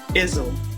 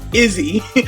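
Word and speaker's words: Izze: hat to restock y'all I was pronouncing this drink iel it's Izzy I don't know why I was adding the L I just wanted it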